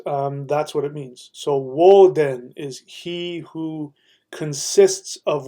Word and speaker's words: Woden: Odin is the pronunciation of the Scandinavian people, but that's actually not the correct pronunciation of his name. The earlier correct pronunciation of his name is Woden. Woden.